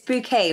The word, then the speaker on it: Bouquet: name like the way it's bouquet right that's how it's pronounced that's right yeah I always tell people like a bouquet of flowers that helps them remember